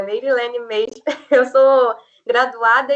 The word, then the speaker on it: Meirylene: Fiquei chocada que você acertou meu nome perfeitamente, a pronúncia, Meirilene mesmo.